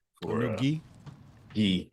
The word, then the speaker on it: gi: Yeah, a G, new G. For, a new gi? Gi. Is that how you say it? Gi. Gi? G. No, gi. G. It's gi. Gi. Gi.